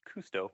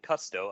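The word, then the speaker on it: Kusto: You'd probably want to go with Cousteau, which I learned is pronounced Cousteau for Jacques Cousteau. I was calling it Custo up until 12 when I did some research on the spelling.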